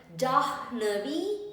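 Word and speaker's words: जाह्नवी: Namami Parvati पतिम Namami Jah Navi पतिम so here ह एंड न इज a compound letter हन जानवी पतिम सो हा will become slightly silent जानवी पतिम Namami Parvati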